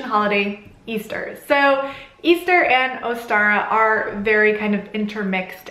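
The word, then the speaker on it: Eostre: And one of the deities that was celebrated at this time of year was called Ostara, and that's spelled E-O-S-T-R-E. And Ostara was a Northern European goddess of fertility.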